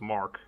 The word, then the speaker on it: Marc: ones like yeah my my name for example is Mark which is uh it's with a c but you pronounce it as a k ah okay but um